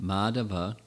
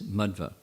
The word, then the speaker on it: Madhva: not first of all the pronunciation is not madhava but it's madhva they mean different things